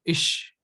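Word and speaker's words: ich: called IE is called in German it is called ish ish okay similarly it is do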